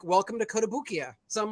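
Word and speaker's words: Kotobukiya: Koto boo how do you save so it's kotobukia but I've actually heard people call it codobukaya as well you know every year we go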